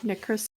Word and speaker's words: Nicrosil: Nitrosil is pronounced Nye, Ni-cro-sil. It is a two-syllable word where the I in Nick print the word I, as in the name Nye. The C is pronounced like the K in croc, and the sil is pronounced like sil.